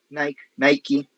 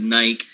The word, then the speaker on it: Nike: us will always call it nike because the form or the shape of the word suggests that this vowel here should take the name of the alphabet because this for us is is a silent e however the the owners of the company or the owners of the um of the brand they have the last word they can they can call it the one they want